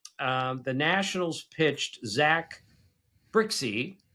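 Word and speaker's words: Brzykcy: On Saturday, um, the Nationals pitched Zack Brixie, spelled his last name, BRZ Y C. I repeat, B R Z Y K C K. That's Zack Brixie.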